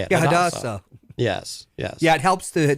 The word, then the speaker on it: Hadassah: I am a member of the Tarot Gods Hadassah, Society. I think is how you say it. Yeah, Hadassah.